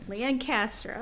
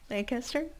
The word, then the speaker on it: Lancaster: Lancaster. Oh, that's nice. I like how you say it. How's Lancaster?